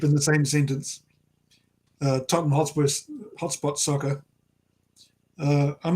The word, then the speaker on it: Tottenham Hotspur: one i've got is tottenham hotspot the wi-fi is good there right here you know you know that it's tottenham hotspur right i always know every time i say it i say it wrong and my one buddy